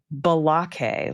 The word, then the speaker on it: Blake: His name is pronounced Balake, like he is in a Key and Peele substitute.